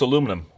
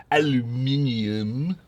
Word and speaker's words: aluminum: Now, oh yeah, that's aluminum. Or you guys incorrectly pronounce in some communist countries, aluminium.